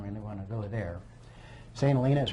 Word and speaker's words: St. Helena: St. Helena, we pronounce it.